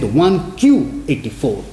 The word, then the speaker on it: 1Q84: He blends it a little bit, and he calls it 1Q84. Q, Japanese 9 is pronounced as Q, and 1Q84.